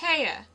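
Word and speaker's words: Haigha: happy his name is Haya he pronounced it so as to rhyme with mayor I love my love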